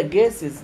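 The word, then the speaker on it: guests: تو ذا جيسز للضيوف، والتي هنا ما بتتنطقش، جيسز جيسز الضيوف. طب ليه التي ما بتتنطقش؟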